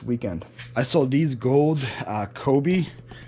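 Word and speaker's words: Coby: I sold these gold Kobe, C-O-B-Y, I think it's Kobe, how you pronounce it, ornaments.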